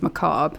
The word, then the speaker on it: macabre: That is macabre. That's how you say it. I've heard people say macabre and macabre. It's macabre. The R is silent.